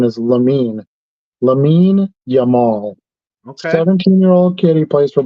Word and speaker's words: Lamine Yamal: I I I learned that is the actual pronunciation is lamine lamine yamal okay 17-year-old Kitty plays for Barcelona and he's